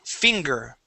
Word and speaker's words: finger: All right, now this G is the same as in Spanish. Okay, even if there's an E after it, we still pronounce that like a G. Okay, it does not become a K sound.